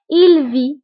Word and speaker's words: vit: alors بالنسبة لجو في كتكون مكتوبة ب إس ولكن إس ما كنطقوهاش كنقولو فقط جو في إس ما كنقراوهاش. tu vis أيضا إس ما كنطقوهاش. il vit ما كنطقوش تي كنقولو فقط في.